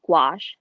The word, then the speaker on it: gouache: I use is called gouache which is Glu ACH II and it sounds a lot like squash so I was walking